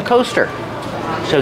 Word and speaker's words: coaster: a cup on the coaster so these are called coasters use the long o sound like no and go co coasters these are called coasters